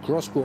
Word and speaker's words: X-Bow: X-Bow geschrieben, Crossbow ausgesprochen.